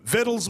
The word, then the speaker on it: victuals: Victuals means food. Read that again. The C is silent.